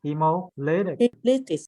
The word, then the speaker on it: hemolytic: So the emphasis on the third syllable. So hemolytic.